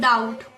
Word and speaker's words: doubt: when it is after B is silent when it is after M and when it is before T. So, when it is before T, then it is sound like when we talk about doubt.